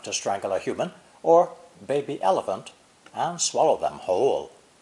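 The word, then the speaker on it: 巴: Originally, today's character, pronounced first tone ba, ba, apparently came from a drawing with different interpretations.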